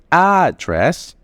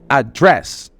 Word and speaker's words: address: the customer by name address has two pronunciation we say address which is the place which is the physical place where you live and we say address the second pronunciation on the second syllable address don't forget to